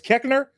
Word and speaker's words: Koechner: got to give it to uh um David Koechner. David Yeah, yeah, Koechner. David Koechner. He's champ. Yeah, yeah. Koechner? Is Kechner? Yes. Man, I always wondered how to pronounce it.